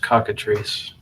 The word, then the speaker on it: cockatrice: ] all to know it's pronounced cockatrice okay boring thing of